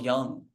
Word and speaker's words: Jung: Carl Jung. Yeah. With a J, but it's pronounced with a Y.